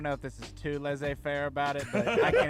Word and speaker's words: laissez-faire: How you said laissez-faire. Oh, jeez. It's that community college education. Baby. You said it kind of lazy fair is what you did. Not enough of emphasis on syllables.